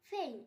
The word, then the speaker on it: feign: ফেইন, FEIGN ফেইন, এখানেও জি এর উচ্চারণ হয়নি।